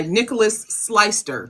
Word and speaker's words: Nicolaus Sleister: And tonight we're joined by Nicolaus Sleister. Did I pronounce that correctly?